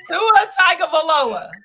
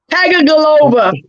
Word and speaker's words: Tagovailoa: How you pronounce it? Don't do it. Tua Tagovailoa. Tagovailoa.